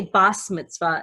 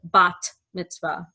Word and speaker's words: bat mitzvah: tough Tov - anta some Jews whose families come from Eastern and Central Europe called Ashkenazim pronounced the second letter over here as a sob so your grandma she might say bas Mitzvah instead of bat mitzvah the point is that